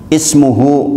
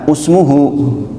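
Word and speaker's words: اسمه: Ismuhu nggak dibaca usmuhu, ismuhu, ya kan?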